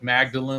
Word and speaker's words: Magdalen: Yeah, and I remember walking down this one hallway at Magdalen College. It looks like it's spelled like Magdalene, like Mary Magdalene, but they pronounce it Magdalen.